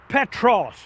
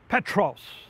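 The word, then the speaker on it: Πέτρος: When He said, Thou art Peter, He used the Greek word Petros. P-E-T-R-O-S is the way we would spell it.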